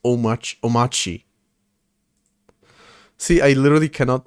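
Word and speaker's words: Omarchy: Omachi. The R is silent.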